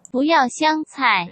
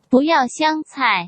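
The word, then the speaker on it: 不要香菜: 현지 발음을 한번 들어보실게요. 不要香菜， 한 번 더 들어보시겠습니다. 不要香菜， 이 말을 꼭 기억하시면 좋은 게요.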